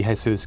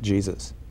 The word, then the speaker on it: Jesus: He's always, everyone, although it should be Jesus, because that was in recognition of the Mexican half of his family, everyone always pronounced it Jesus.